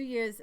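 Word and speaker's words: Jair: say Javier you weren't it's spelled j a iir and Lee and I were trying to figure out how to pronounce that year year has to be year so there's Victor Orban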